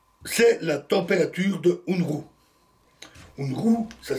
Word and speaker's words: Unruh: C'est l'effet Unruh.